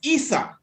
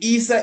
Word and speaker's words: Isa: Jesus in Arabic is Isa. Mm-hmm. Now, it's spelled I-S-A. Mm-hmm. The Isa in the story of Jacob and Esau is E-S-A-U. But it's still the same phonic sound.